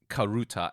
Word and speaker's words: karuta: because as you listing those uh Sports it's karuta and ice I Mis I mispronounced it I mispronounced as kurasa as well it's like the hiashi when it's